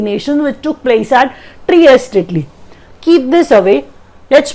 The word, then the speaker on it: Trieste: The venue is Trieste, Italy. That's how we pronounce it. Trieste, Italy.